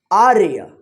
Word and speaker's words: आर्य: देखिए यहाँ पे आ के बाद आधा र का उच्चारण हो रहा है, तो और यहाँ पे य के ऊपर क्या होगा?